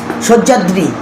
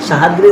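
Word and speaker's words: সহ্যাদ্রি: শিবালিক সজ্যাদ্রী হিমাদ্রী হিমাচল সজ্যাদ্রী মানে সাহাদী সাহাদ্রী তো এটা উচ্চারণ ভুল বলে উচ্চারণ সজা সজ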